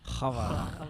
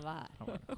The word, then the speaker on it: Hvar: Hvar. Hvar.